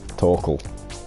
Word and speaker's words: TorqueL: people who hate you Toral Toral sorry rhymes with snorkel crap it gets until